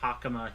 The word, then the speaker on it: hakama: the order of things imagine gumu pronounces it as hak what do you think of that yesie F what hakama he pronounces it instead of hakama HE pronounces it hak I mean you know